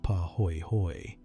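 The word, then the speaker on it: pāhoehoe: Poy hoy pronounced pah hoy hoy is the one that moves more slowly spreading in sheets and forming those beautiful swirled ropey surfaces.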